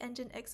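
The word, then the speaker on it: nginx: for creating containers and that template is called engine X okay engine x i think when you see this word for the first time maybe engine X is not the intuitive way to pronounce it cuz I I didn't really call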